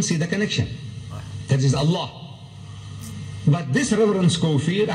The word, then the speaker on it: Allah: a l a h is allah you say allah look say allah my language my language i want you to pronounce as i want you to pronounce you